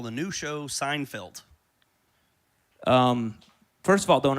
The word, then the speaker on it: Seinfeld: The show's called Seinfeld. It's spelled S Ei NFD. ei makes an a sound like vain.